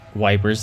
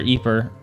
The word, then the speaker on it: Ypres: is power achievement unlocked Ypres a town in ruins dubbed wipers by British troops due to its difficult pronunciation wipers that's funny yep the Belgian tower eeper was a key strategic position